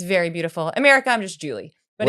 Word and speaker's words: Julee: My mother's French Canadian. They say Julie. Julie. Julie. Yes. It's very beautiful. America. I'm just Julie, but it's uh What's your maiden name?